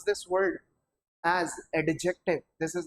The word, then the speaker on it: adjective: अब एक चीज समझिए, बच्चे से एडजेक्टिव पढ़ते हैं, this should not be pronounced adjective, it must be adjective। क्योंकि देखिएगा इसके अंदर ना ये जो डी है ये साइलेंट रहते हैं।